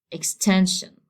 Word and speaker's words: extension: Okay, as the rule says, I have to stress the second to last. This is the last one, and this is the second to last. So I have to make the stress here. So it will be said like extension. Okay, this is the stressed syllable.